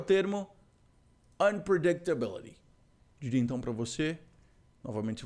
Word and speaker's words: unpredictability: que é o termo unpredictability então para você novamente se você fizer aquela jornada que você vai descobrir que tem vários pontos de tonicidade nessa palavra unpredictability unpredictability eu diria para você que